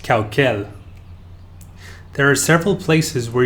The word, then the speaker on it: Caucel: stones to grind and is pronounced khao khel there are several places